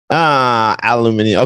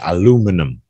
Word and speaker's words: aluminium: It says right here, aluminum became preferred in the United States and Canada, while aluminium became favored throughout the rest of the English-speaking world. So it's in North American, they say aluminum, but aluminium is the original word.